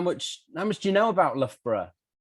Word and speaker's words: Loughborough: Okay, well, you can pronounce Loughborough however you like. However, the easiest way to pronounce it is actually Loughborough. Okay, not Loughborough. Loughborough is perhaps the easiest way of pronouncing it.